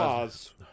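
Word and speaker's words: Faiz: Or is that you say Faz? Faz. Yeah. F-A-I-Z. Oh, Fize. Oh. Okay. It's pronounced Faz. I always pronounce it as Faz.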